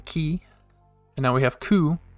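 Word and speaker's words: く: and now we have ku which is like cuckoo bird yelling screaming for help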